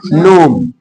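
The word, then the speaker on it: gnome: आगे यहां इसको नोम बोलेंगे, जिनको नहीं पता रहेगा वो जिनोम ही बोलेंगे, जबकि इसका करेक्ट होगा नोम, नोम।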